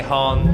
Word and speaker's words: Honne: if it means them so we say harm but if we were Japanese we'd say her name on it that's how you'd say in their language ba means true feelings